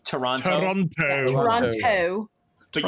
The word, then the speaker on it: Toronto: everyone else outside of Toronto pronounce it with the T Toronto Toronto Toronto but you know that that it's actually just an n in there Toronto we're really lazy